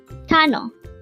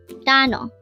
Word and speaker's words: 단어: word number 368 Tano Tano this is pronounced as a two syllable word the first syllable is tan second syllable is O pronounce it with me Tano Tano Tano means individual